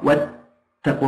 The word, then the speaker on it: واتقوا: بعض اثم واتقوا الله واتقوا الله لاحظوا ان الالف تكتب ولا تنطق واتقوا الله فاولئك هم